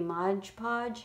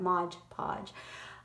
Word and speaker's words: Mod Podge: time to do any modge podge how do you say that Mod Podge but I plan to